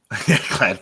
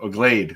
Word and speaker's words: Glade: one of those commercials glad plugins yep yep Glade Glade not glad Glade yeah what glad get